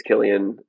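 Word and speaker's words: Cillian: I just I never say his name because I don't know how to pronounce it. But I I think you're right. I think it's Killian.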